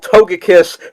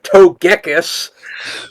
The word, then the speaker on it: Togekiss: Even though you don't call Toge Togepi Togepi and you don't call Togekiss Togeekus and they pronounce Ar and they pronounce Archus as Arus.